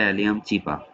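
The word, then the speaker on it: Allium cepa: হ্যাঁ, নোটে আসলে আমরা দেখতে পাবো এখানে মানুষের পরে আছে পেঁয়াজ, এটা হচ্ছে অ্যালিয়াম চিপা, এটার উচ্চারণ হবে অ্যালিয়াম চিপা।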